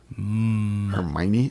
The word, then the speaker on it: Hermione: Harry Potter kids she was yes hermy okay Hermione is that how you pronounce that that's how they pronounce it in